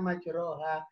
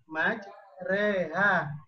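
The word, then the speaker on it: مجريها: ketika kita baca Quran sering kedengaran salah karena dibacanya majroha Karena dia tulisannya jadi yang bener cara bacanya majreha Yang itu membaca fakta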